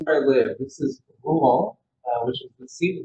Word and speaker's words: Rouen: It's pronounced Rouen. Very, very French and very difficult to say.